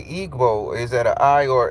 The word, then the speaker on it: Igbo: So it's an I. It's Igbo. So you're Igbo. So help me understand what is Igbo. Oh, the G is silent. Oh, Ibo.